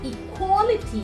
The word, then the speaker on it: equality: we tell equality so the right way of pronouncing its equality the way we have this w or the worst sound you need to round up your lips and you tell equality necessity necessity opportunity opportunity